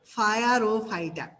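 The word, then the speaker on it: Pyrrophyta: দেখো, আমরা উচ্চারণ করবো ফায়ার ও ফাইটা।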